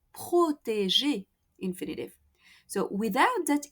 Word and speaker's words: protéger: Protéger.